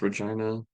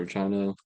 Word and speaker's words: Regina: So I go through Winnipeg there, and then I would go on to Winnipeg to, I think it's pronounced Regina in Saskatchewan, 6 hours.